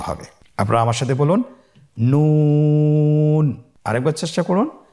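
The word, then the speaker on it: نون: আপনারা আমার সাথে বলুন নন। আরেকবার চেষ্টা করুন নন। নূর হরফটির উচ্চারণ স্থান হচ্ছে জিহ্বার আগা তার বরাবর উপরে তালুর সঙ্গে লাগিয়ে উচ্চারিত হয়।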